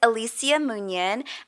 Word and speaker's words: Alicia Munian: are you from okay so my name is Alisia munion and I'm from New York born and raised